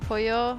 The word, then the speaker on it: pollo: Is it really pronounced pollo when there are two L's? Yes, in Spanish they have an actual letter that is double L. And it's pronounced y.